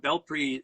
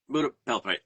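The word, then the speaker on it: Pura Belpré: Well, you got you got Bel PRI. Is that how you say it? Bel Pria Belpri. Pura Belpri.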